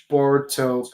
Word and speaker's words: Boruto: I did not watch Boruto past episode 52. No, I said at Boruto, which is the Japanese pronunciation.